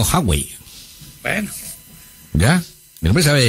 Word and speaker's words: Huawei: y chinas, me dice, nos corrige, que es Huawei. ¿Huawei? No, Huawei.